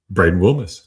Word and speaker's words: Braden Wilmes: Braden Wilmes. Hey, good job pronouncing his name correctly.